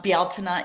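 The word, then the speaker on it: Bealtaine: And then when we think back to Bialina or Beltame, um, Bialina is the Celtic pronunciation.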